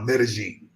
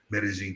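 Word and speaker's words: Medellín: some people pronounce it medellin um you know the double l make the yo sound but particularly in medellin the double l's make a j that's how they say it the locals have corrected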